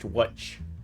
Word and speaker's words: Łódź: Spent mostly my time in a city called Łódź, which is spelled L-O-D-Z. Yeah, L-O-D-Z, pronounced Łódź.